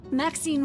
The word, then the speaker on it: Maxine: Maxine rhymes with queen, after all, and dearest.